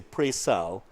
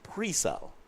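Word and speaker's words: Penal: prile area of course there are different discussion how you pronounce the name of that uh well-known town here in Trinidad I tend to say preal but I know that the residents say prel instead so whichever one you go with that's fine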